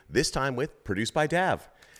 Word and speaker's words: Dav: guess I'm okay because I found out I was saying your name wrong for the past I don't know six months of year I've been saying produced by Dave with no e everyone so sorry about